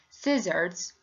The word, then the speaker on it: scissors: So here we don't pronounce the letter C because it preceded by S.